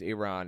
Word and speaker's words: Iran: planned the first Holocaust under hmon Iran it's pronounced Iran and also I mean I I think the